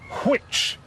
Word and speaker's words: which: He begins it with an H. This is an H sound, and this is a W sound. And that's because Harriot pronounced the word which. So this is "Our Father, which art in heaven."